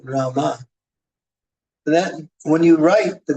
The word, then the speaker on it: Rama: So Maharaj, we have a question that what's the difference between Rama and Ram? No difference, but the acharyas tell us to chant Rama.